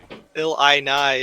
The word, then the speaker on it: Illini: That one I just go, But it looks like Illini is the correct way to say it, as Quacker might have space checked to his death.